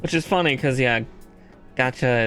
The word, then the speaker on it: gacha: Which is funny cuz yeah, gacha is just the Japanese way to pronounce gotcha, which is what he's just saying the same thing.